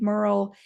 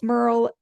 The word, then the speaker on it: Merle: Well, I'll be sure to drop links in the show notes of how you can find Merle. And her name rhymes with girl, and she's great about